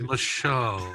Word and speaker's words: Marshall: Pronounced Marshall.